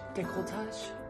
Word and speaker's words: décolletage: proper pronunciation here but the decolletage nicole touch it's a french word i'm sorry if i'm